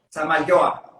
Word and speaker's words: Zamayoa: Es Samayo. Samayoa. Samayoa, bien, bien, lo iba a pronunciar bien.